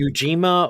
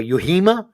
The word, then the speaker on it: Ujima: that fucking one word it could be ujima or yuhima could the J be pronounced no it's j so yeah I think